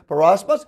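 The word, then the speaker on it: πειρασμός: The Greek word is, I'll spell it to you, it's peirasmos, which is P-E-I-R-A-S-M-O-S, which has not yet to come, right?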